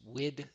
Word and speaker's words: Wid: My name is Wid. That's right. It's Wid. It rhymes with squid.